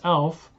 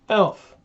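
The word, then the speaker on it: Aleph: word elf revelation elf elf the first letter of the Hebrew alphabet it is silent elf so I guess I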